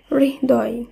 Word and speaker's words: হৃদয়: এই হয় রি থাকলে এর উচ্চারণ শব্দ হবে রিহ রূপে। যেমন হয় রি দ অন্তস্থ এই শব্দের উচ্চারণ হবে হৃদয়, হৃদয়।